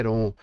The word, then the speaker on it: Heron: caso da fórmula de Heron a Eu não me preocupo muito com as pronúncias Eu acredito que a pronúncia mais adequada para nós falantes de língua portuguesa seria é ROM Mas independente de que